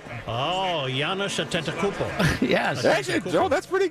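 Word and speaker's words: Giannis Antetokounmpo: just call him The Greek Freak Manny can pronounce his name yes Giannis attento oh Yan atento yeah actually Joe that's pretty good you actually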